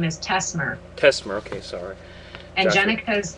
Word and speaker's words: Tessmer: one of the names Joshua how do you pronounce his last name Joshua's last name is Tesmer Tesmer okay sorry and Jen's is feierstein feierstein